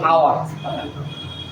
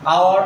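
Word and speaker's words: hour: এন এর exceptional ব্যাপারটা হচ্ছে যেমন দেখো কোনো ওয়ার্ড আমাদের পাবো আওয়ার, তারপর হচ্ছে অনেস্ট, SONEST। দেখো এখানে এইচ আছে কিন্তু উচ্চারণটা হচ্ছে আমাদের ওয়ের কাছে চলে গেছে। দেখো আওয়ার, অনেস্ট।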